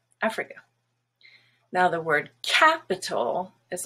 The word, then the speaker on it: Africa: to pronounce more like africa because that's usually how it's pronounced in other languages but the first a has the stress and it's black now the i and